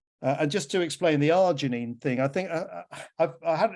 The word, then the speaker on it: arginine: Lots of people have got the problem with arginine, and it's only 3 syllables.